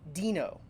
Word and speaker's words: Deno: learning Dino oh sorry Dino okay I think that that'll I will try to pronounce it correctly Dino it's not dead no do you know um